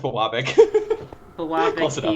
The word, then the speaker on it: Biwabik: It's pronounced Bawabik. Bawabik, Close enough. Biwabik, same difference.